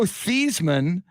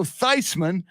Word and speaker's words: Theismann: joe seisman was joe thiesman but he wanted to win the heisman so he changed the pronunciation from joe thiesman to joe theismann and he won the heisman at notre dame smart move joe thiesman